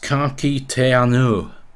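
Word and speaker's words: ka kite anō: But it's pronounced Kaki Te Anu. You see, Anu. That just sounds so much like broad Yorkshire, doesn't it?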